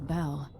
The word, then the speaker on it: Abele: Alright, Duke Luca Abele. Finally, please pronounce his full name. I don't know Duke Luca Abel.